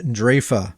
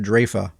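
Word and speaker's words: Draoi: my pronunciation on that it is draa is how it's pronounced so that said it's called Bastion of draa you know it just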